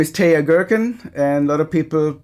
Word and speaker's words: Teja Gerken: want to start like that my name is TAA girkin and a lot of people wonder how to pronounce my name if they've only seen me